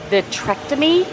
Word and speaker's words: vitrectomy: And if any of you know anything about a vitrectomy, I keep calling it a vasectomy, it's not that. It's she's having a vitrectomy, I think is how it's pronounced, because of a tear in her, I want to say retina.